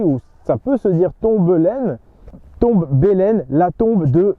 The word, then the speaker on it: Tombelaine: Premièrement, par Tomblaine.